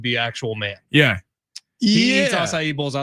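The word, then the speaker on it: açaí: say it aacu aable it's asai assai this dude won't even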